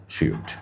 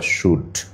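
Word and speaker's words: shrewd: সুন্দর করে একটু খাতা নিয়ে লিখে রাখো অ্যাস্টিউট, শ্রিউড বা শ্রুড, উচ্চারণ কিন্তু শ্রিউড অথবা শুড।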